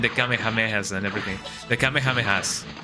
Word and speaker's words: Kamehameha: The Kamehamehas. Some people say Kame Kamehameha, and I don't like that. I I just say Kamehameha because you know that's how we used to pronounce it in in in here.